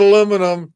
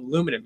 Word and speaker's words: aluminum: No, if you want to say it like Jimmy, you call it aluminum. You just get rid of the A and it's aluminum. No, it's aluminum.